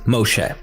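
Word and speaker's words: ⲙⲟϣⲉ: And that's how you pronounce it, Moshe. Yes, that is almost identical to the Hebrew pronunciation of Moses.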